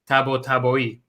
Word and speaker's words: Tabatabai: I say Tabatabai. Apparently, so my dad was you got it right. My dad was from Iran. So apparently the proper pronunciation is Tabatabai.